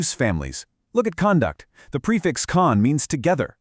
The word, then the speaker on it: conduct: The spelling of the word conduct stays exactly the same, but the stress completely changes the pronunciation depending on how you use it. If it's a noun, meaning your behavior, it's conduct. But if it's a verb, meaning to manage or guide an experiment, it's conduct.